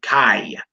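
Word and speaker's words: חי: a dad's Riley yo you pronounce that kiyah as in life all right Chi as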